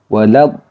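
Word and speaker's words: ولا الضالين: Jadi cara membacanya dibaca panjang 6 harokat atau 3 alif. Ini panjang yang paling sempurna yaitu mad lazim. Jadi harus wajib dibaca panjang 6 harokat atau 3 alif. Kemudian ditasydidkan ke lamnya waladdall. Nah, lamnya ini ketika ada tasydid, tasydidnya itu ditekan, ya, ditekan membacanya. Waladdallin.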